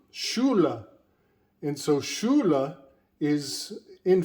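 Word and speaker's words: Schule: the word in german the word school does not have that hard c h in german the words school is shuru shula and so shula is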